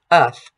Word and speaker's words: earth: Here we know that the TH in the word earth is pronounced voiceless. Earth. We also see that there's no American R in here. This is an English British piece, uth. So we just negate that R.